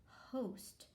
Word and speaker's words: host: consonant in the front i see it has ost so that is my um exception to the closed syllable rule and this one's going to be read as host a host is somebody who